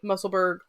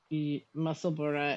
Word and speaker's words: Musselburgh: I would like to report that Musselburgh is probably right. Oh. Well, because it is spelled like the same Edinburgh, as Edinburgh. like Edinburgh.